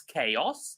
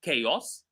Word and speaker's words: chaos: So we have so far learned, I think, 4 or 5 words that we talked about the pronunciation of. So the first word is chaos, chaos.